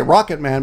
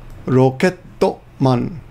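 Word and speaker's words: ロケットマン: I gotta be careful not to pronounce that in English. I want to say rocket man, but it's rocket man.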